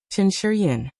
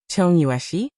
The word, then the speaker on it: Chen Shiyin: Chen Shiyin and said, Chen Shiyin. Cheng Yueshi? Lu Weisha repeated, but her pronunciation was completely wrong. It's Chen Shiyin, not the one you're talking about.